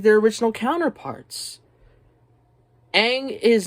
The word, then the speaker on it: Aang: the show first of all his name is ong in the movie but it's pronounced aang but okay fine that's one little misstep and